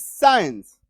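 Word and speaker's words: science: पे ये रूल काम नहीं करेगा that is साइंस that is साइंस क्यों क्योंकि एस के बाद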